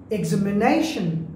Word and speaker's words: examination: Examination, you see, nay, it will be louder than other syllables.